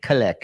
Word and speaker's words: Kalak: KALAK is the right way. Written KALAK, but pronounced KALAK.